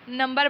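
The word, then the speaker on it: knee: ये देखेंगे 3 का नंबर बना हुआ है आपके पास। इसके बाद है आपके पास नी नी नी, इसमें के साइलेंट होगा, ठीक है।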